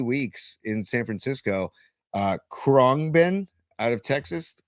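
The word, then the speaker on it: Khruangbin: Uh, Kongben out of Texas. Kongen metal, right?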